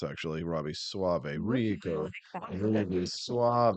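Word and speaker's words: Soave: that is the net how his name is pronounced actually Robbie Suave Suave right right here's what Robbie tweeted on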